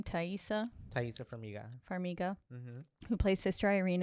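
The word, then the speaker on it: Taissa Farmiga: Thaisa Farmiga.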